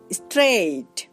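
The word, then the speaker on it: straight: যেমন স্ট্রেইট মানে সোজা। তো দেখুন এখানে আমরা AIGH কে পাচ্ছি আর তার উচ্চারণ হচ্ছে এই।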